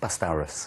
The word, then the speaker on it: Pastoros: I'm obsessed with the dinosaur pronunciation. Do you say it right, please? .. Pastoros.